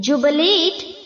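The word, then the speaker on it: jubilate: यात्रा करना journeys journeying जुबिलेट जुबिलेट जुबिलेट यहां पर जो बच्चों बी के आगे आई है उसे हमें ई की तरह प्रोनाउंस करना है ओके जुबिलेट नहीं बोलना है जुबिलेट ओके जुबिलेट जुबिलेट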